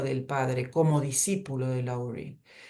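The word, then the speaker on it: Lowry: muchísimo que se llama él es laury se escribe lury no y digamos su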